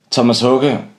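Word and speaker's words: Tomas Haake: Thomas Hoge, as it's pronounced in Danish, sorry, I'm not Swedish, so I'll be pronouncing it in Danish, set a new standard for drummers, which is really apparent up until today.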